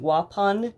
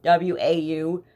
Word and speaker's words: Waupun: called the Dodge correctional facility and it's in Waupun w-a-u-p-u-n Wisconsin Waupun I guess that's how you say